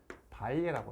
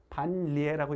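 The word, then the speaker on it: 반례: 거짓이 되는 예, 그걸 우리가 뭐라고 부르냐면 발예라고 그래요. 발예. 되지 않는, 반대되는 예라고 생각하면 돼요. 발예. 우리가 우리 이거 신라라고 읽지 않아요? 신라라고 읽죠? 그러니까 이것도 반리에라고 읽지 않고 발예라고 읽어요.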